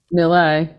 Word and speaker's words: Nula: Am I pronouncing that right, by the way? Is it NULA? NULA.